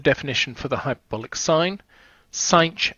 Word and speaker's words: sinh: Sinh x is how we pronounce it.